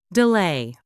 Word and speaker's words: delay: Is it delay or da? Delay with a long a.